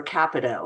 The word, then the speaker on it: Capito: Kevin Kiley was one in the House of Representatives, and Senator Capito, I think her is how you say, or rather Capito is how you say her name, was also providing that information to the public as well.